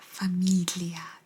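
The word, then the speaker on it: famiglia: you say famia famia Familia the G is almost like Familia Familia it's almost like eaten Familia Familia is family as been diesel say and the Fast and the Furious Familia Familia La Familia okay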